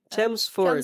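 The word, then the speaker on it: Chelmsford: And this is us mula dito sa anong pronunciation ng lugar niyo? Chemsford.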